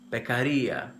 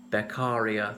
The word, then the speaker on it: Beccaria: correct pronunciation of his name it's the Italian pronunciation of Caesar and Bek Aria tried to accentuate it correctly doesn't really matter I often hear people saying Caesar II or their carrier things like that so he was from Italy